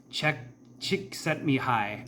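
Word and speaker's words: Csikszentmihalyi: State and so there was a uh gentleman Che chick set me high is how you say his name I think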